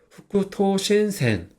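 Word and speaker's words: 副都心線: 그래서 버금부는 음독으로 흑구라고 읽어요. 그리고 도, 이거는 훈독으로 토. 그 다음에 마음심은 음독으로 신이라고 있습니다. 그래서 후쿠토신센.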